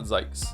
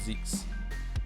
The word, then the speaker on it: Zykes: It's not Zykes. It's Zeeks. Von Zeeks.